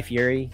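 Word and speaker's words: Fieri: on Triple D with guy Fury is how you say his name great a fast casual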